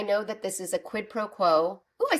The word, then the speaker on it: quid pro quo: one hand I know that this is a quidd proquo oh I said it right I usually can't